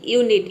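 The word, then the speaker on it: unit: जैसे कि यूनिट, यूनिट में देख सकते हैं कि शुरू में यू आया है। यहाँ पे देखिए यू का यू हो गया और ये हो गया NIT, ये हो गया आपका नीट, पूरा हो गया यूनिट।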